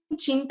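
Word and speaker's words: चिन्ता: So there is this n, right? So just between chinta and chita, there's a lot of difference.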